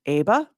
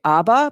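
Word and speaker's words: ABAA: barrier association of america i pronounce it aba some people want to say abba because they're going back to the 80s you know with the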